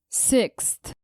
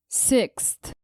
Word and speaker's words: sixth: nature number three sixth adding a th after x can be tricky for many english students let's pronounce it several times sixth sixth sixth examples the dictionary is